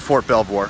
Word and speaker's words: Fort Belvoir: That's how you say it, Fort Belvoir, right in front of that.